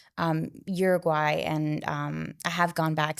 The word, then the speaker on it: Uruguay: So your family moved here when you were a young child, and please check my pronunciation on me. But from Uruguay. Uruguay? Uruguay, Yes.